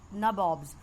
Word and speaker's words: nabob: So these people, they were called nabobs, because England people in English pronunciation, they used to call Nawab as nabobs.